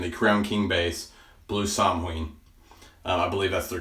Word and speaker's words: Samhain: A lot of people want to say Samhain, but it's not the right word. It's not an English word. It's an old word.